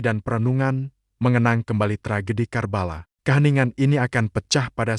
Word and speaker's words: Karbala: Pagi-pagi sekali, seluruh tabut kembali diarak menuju sebuah kompleks pemakaman yang disebut Krabela, sebuah pelafalan lokal untuk Karbala.